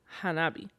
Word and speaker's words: Hanabi: the F the word firework in Japanese is pronounced Hanabi which actually means fireflow you would like that